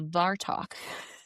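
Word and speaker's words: Abhartach: So, a lot of people think that Dracula was inspired by this legend um of the of the of Varto. This one is spelled ABH A R T A C H.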